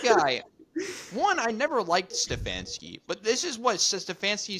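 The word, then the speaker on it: Stefanski: not win it more I than God like stefansky you said it right stefansky is like that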